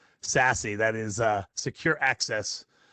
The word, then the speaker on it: SASE: something called sassy and it is pronounced sassy that is uh secure